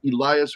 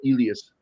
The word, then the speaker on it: Elias: Also, you had uh it's either Elias or Elas because he is Greek, so I think it's pronounced Elas Cookas who was great actor, man.